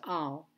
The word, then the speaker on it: על: lamid and that is always written with the patach underneath it and it's pronounced al so it sounds like